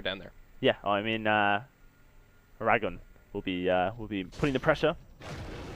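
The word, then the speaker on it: Eragon: I know it's from the book series, right, which I believe is where I think you actually are supposed to pronounce it Aragon as well. I have a friend who the book actually series read them. Yeah, is meant to be pronounced Aragon as well. Yeah, I mean it is just dragon but with an E.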